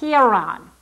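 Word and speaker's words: Hieron: And for lack of a better pronunciation, we're going to call it Hon.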